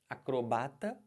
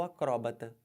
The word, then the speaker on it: acrobata: diferente olhem para cá você pode falar acrobata ou acróbata cromata ou acroba os